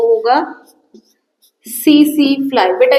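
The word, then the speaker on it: tsetse: जो होगा वो होगा सी सी फ्लाई बेटा इसको टसी टसी नहीं पढ़ेंगे र टी साइलेंट है तो इसको पढ़ेंगे सीसी फ्लाई क्या क्या बात हमने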